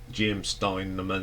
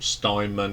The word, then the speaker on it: Steinman: It's written by Jim Steinman, or Steinman, as I got corrected that I pronounced it wrong.